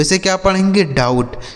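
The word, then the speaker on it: doubt: डाउट। डी ओ यू बी टी। इसे पढ़ा जाएगा डाउट।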